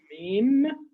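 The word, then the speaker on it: ميم: Mim. You see when I say mim, I'm moving my lips.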